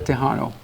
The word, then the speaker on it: Tejano: And what's unique also too is the word Tejano means, for example, in Spanish, Texas is pronounced Tejas in Spanish. Okay. Mexican is pronounced Mexicano. And you combine both words is a Tejano.